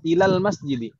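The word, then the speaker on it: إلى المسجد: Tadi kita membacanya ila al-masjidi atau ilal masjidi. Ilal gitu kan ya. Jadi alifnya itu secara lafaz terhapus, ya atau ya. Jadi nggak panjang lagi.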